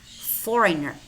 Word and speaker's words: foreigner: And we also have words which contain the letter G, but it is silent. Gnome, rain, diaphragm, sign, Nash, gnat, design, design, campaign, foreigner, tongue, resign.